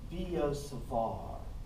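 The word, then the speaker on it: Biot–Savart: Sorry, it's Biot-Savart. I'm supposed to pronounce the T. I just always call it Biot-Savart.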